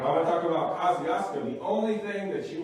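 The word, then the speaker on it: Kosciusko: from there it's like this place here uh kosciuszko um that is how you actually pronounce it so if you think i'm making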